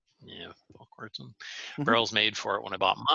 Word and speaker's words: Volquartsen: I got one of the first, can't pronounce that. Volquartsen? Volquartsen. Yeah, Volquartsen.